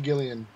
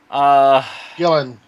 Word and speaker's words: Gillan: the glory that is Karen Gillian Gillan I've never pronounced your name right Marc Evan Jackson is